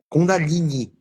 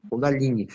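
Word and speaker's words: Kundalini: 1500 anos então ah uma pronúncia eh utilizada que eu eu aprendi quando aprendi pela Universidade de Goa na na Índia é cond dalini com o acento no i cond dalini e quando você consulta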